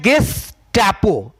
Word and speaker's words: गेस्टापो: तो इसका आंसर है क्या नाम, इसका प्रोनाउंसिएशन है गेस्टापो।